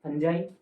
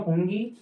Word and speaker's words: fungi: कवक यानी फंजाई, जो एक चीज है ये FUNGI, इसे क्या पढ़ना है? फंजाई, नो फंगी नो फंगी, only फंजाई, ये ध्यान रखना। ये क्या शब्द है? इसका सही उच्चारण फंजाई है, ठीक है, छोटी सी बात है।